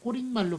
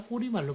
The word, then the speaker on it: 꼬리말: 꼬릿말로 발음하는 게 아니라 꼬리말로 발음하기 때문에 그렇게 꼬리말로 쓴 꼬리말이라고 사이시옷 안 붙이고 꼬리말로 써야 맞겠습니다.